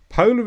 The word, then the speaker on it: polar: has three separate meanings polar is an adjective with the stress on PO Le and the main me